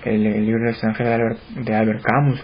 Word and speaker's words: Albert Camus: Me dieron el libro El extranjero de Albert Camus, o Albert Camus, como se pronuncia, en una versión grande que tenía tapa